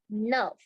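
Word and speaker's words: neuf: okay so the mistakes word nine number is pronounced as Nerf Nerf yes and number 10 is is pronounced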